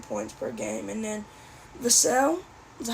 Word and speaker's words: Vassell: able to put Devin Vassell at the 3, Vassell, that's how you say it.